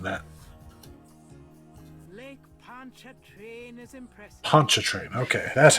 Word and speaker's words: Pontchartrain: Pontchartrain. Okay, that's how you pronounce that.